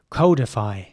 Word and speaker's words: codify: next word is spelled c-o-d-i-f-y and in British English this would be pronounced codify and some people in British English might pronounce this codify and some people in